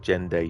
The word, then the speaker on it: Zhengde: Because like Zhengde is kind of like Gende, you think. Oh, in how you pronounce it, you mean? So instead of Zen, it's J.